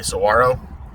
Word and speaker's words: Saguaro: Where I'm from, that's pronounced Saguaro, but I've heard other people say Saguaro.